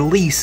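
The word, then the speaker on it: lees: a sediment layer what some people call the leaves or lease it's l-e-e-s so if you ever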